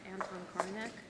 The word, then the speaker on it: Anton Korinek: And you're Anton Korinek. Is that pronounced your name right?